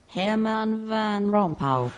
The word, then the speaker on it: Herman Van Rompuy: For the record, Jeremy, this is how the BBC's pronunciation computer tackles the name. Herman Van Rompuy.